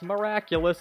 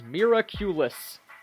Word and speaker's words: Miraculous: song is in English they mispronounce miraculous as miraculus so if nothing else just